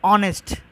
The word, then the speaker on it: honest: But if we come to an honest, there is a consonant letter H, but it sounds like honest because H is a silent.